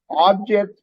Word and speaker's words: object: earlier objects versus object the only difference is exactly written exactly the same way only difference is the word stress or syllable stress when you change the syllable stress one is a verb other one is a noun then we also talked